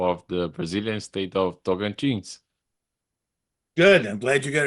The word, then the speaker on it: Tocantins: I want to dedicate this episode for if anyone is watching, for the people of the Brazilian state of Tocantins. Good. I'm glad you got it pronounced right.